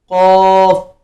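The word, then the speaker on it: ق: है, तो ये है काफ, काफ, काफ। सीधा आपने पढ़ना है, अपना ओपन माउथ, मुंह खोलना है थोड़ा सा, और ये ऑटोमेटिकली प्रोनाउंस हो जाएगा।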